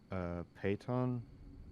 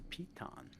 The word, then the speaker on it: piton: Could I use my payton? I think that's how you pronounce it. The little things you stick into the wall that helps climbers. It's a piton.